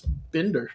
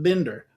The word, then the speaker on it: Binder: So, and and it's like it's like I always got told like a book binder.